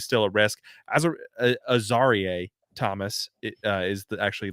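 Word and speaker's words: Azareye'h: is uh is still a risk as a a zar Thomas uh is the actually the corre correct pronunciation uh the quarterback from Florida State I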